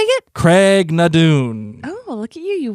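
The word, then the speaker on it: Craigh na Dun: and confusion say how do you say it Craig nadun oh look at you you worked on how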